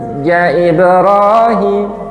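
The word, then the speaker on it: حَاجَّ إِبْرَاهِيمَ: Cara membacanya khusus, panjangnya wajib. Enam. Itu yang pertama. Yang kedua, teknik membacanya adalah tahan sebentar pada tasdidnya. Sekali lagi, tahan sebentar pada tasdidnya. Bukan dengung loh, nggih. Ditahan sebentar. Alam taro ilalladzi haja Ibrahim. Hajbrahim. Jadi nya itu ditahan sebentar.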